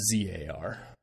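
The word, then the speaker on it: TzHaar: So Tsar is actually TZ capital HAAR. Oh. Pronounced ZAR.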